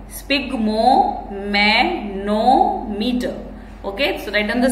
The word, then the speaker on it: sphygmomanometer: Okay, so the pronunciation of this word is spigmomanometer.